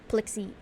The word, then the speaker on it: Plexi: I wasn't sure because I know sometimes the X's are pronounced like sh like ch or something like that, but I guess it's like actually pronounced with like the X syllable.